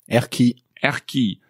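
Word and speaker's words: Erquy: came to an unusually named town can you pronounce it ERI so for you guys at home it's e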